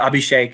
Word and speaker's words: Abhishek: that's easier for you but abhishek is normally the way it's pronounced uh but i get